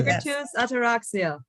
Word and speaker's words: Migratus Ataraxia: It's Migratus Ataraxia. Am I pronouncing Correct. it right? Or do you, Absolutely. yeah, Migratus Ataraxia.